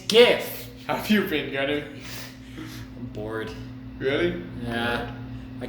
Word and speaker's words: GIF: were wrong okay but no it's not jiff its gift a few kidding really